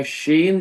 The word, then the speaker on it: ش: تالو سے لگتا ہے، یا شین جب استعمال کرتے ہیں اشہد ان لا الہ الا اللہ، اشہد ان، تو یہ زبان کا بیچ کا حصہ شین ادا کرتے ہوئے ہمیں اوپر کے تالو کے حصے سے لگائیں گے، مڈل پارٹ آف دا ٹنگ، یہ جو حصہ ہے بیچ والا اسے اوپر کے تالو سے لگاتے.